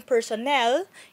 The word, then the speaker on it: personnel: When we talk about personal, the stress is on the first part of the word, pero yung personnel is on the last syllable.